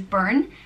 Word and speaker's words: Burne: Next name is Burne, and it means from the brook. And it's pronounced burn, like you burn your finger if you put it in fire, burn.